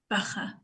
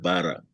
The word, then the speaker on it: Baha: So the name is Baha, not Bara.